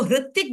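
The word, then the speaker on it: Hrithik: ऋषिकेश लिख रहे हो ऋतिक लिख रहे हो तो उसमें एच लगता है आर नहीं लगता वो वो हा लगाते हैं वो हृतिक बोलते हैं तिक बोलते हैं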